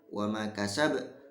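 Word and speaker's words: وَمَا كَسَبَ: Ketika ayat yang pertama ditekan dulu baru dipantulkan, ayat yang kedua langsung dipantulkan. Wa ma kasab, ya, wa ma kasab. Nah, seperti itu.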